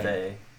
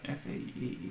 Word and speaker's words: Fae: F-A-E. F-A-E. Yeah. So you say Fae, basically but fairy.